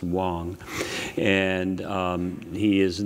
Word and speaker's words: Wang: You'll hear about his, in fact, it's spelled Wang, but I believe that it's actually pronounced Wong.